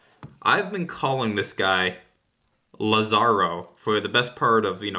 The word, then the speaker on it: Lazaro: Yeah, the commentator was saying Lazaro, like putting more emphasis on the first.